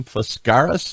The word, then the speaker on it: Foscaris: Let's bring in Penny Foscaris.